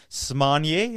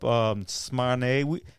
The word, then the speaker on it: Smanie: We saw Chris Arndt down there, who represents Smanier. I learned this. This is the correct pronunciation.